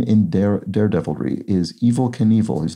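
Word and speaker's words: Evel Knievel: name in daredevilry IS Evil Knievel his name is spelled as though it will sort of it's pronounced as though it were the word evil meaning sort of bad or Sinister but uh is spelled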